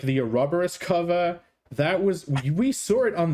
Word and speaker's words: Ouroboros: Do you guys really pronounce it Ouroboros? Ouroboros. Yes. Even if you pronounce it correctly, Ouroboros, people still would not understand what you're talking about.